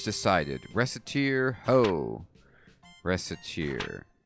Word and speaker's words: Recettear: Recettear, ho. Recettear. Mispronounce it even slightly, and... Recettear. Racketeer.